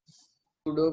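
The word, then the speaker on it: pseudo: सूडो quadratic. सूडो quadratic, SUEDO या फिर SEUDO, ऐसा ही कुछ होगा, ठीक है। P साइलेंट रहता है इसके अंदर।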